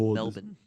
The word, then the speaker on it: Melbourne: is going to be Jade Melbourne, who was the youngest player in the league last year. Presumably steps into the backup point guard. It's pronounced Melbourne. I tried to drop the R there.